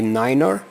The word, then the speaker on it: niner: the difference is just instead of nine you say Niner but also has the